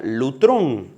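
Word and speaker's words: λύτρον: Este término en griego es la es la raíz de una palabra que se pronuncia lutrón.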